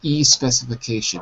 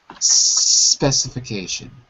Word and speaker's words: specification: I'm hearing an E at the beginning. I'm hearing E specification, but be careful. Just specification.